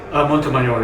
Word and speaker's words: Montemayor: Montemayor is a Spanish. Montemayor.